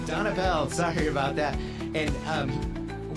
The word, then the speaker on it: Donapel: Uh Donapel. Donapel.